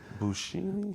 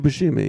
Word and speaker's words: Buscemi: Boo with the B U. Steve B. Buscemi? Oh, Steve Buscemi.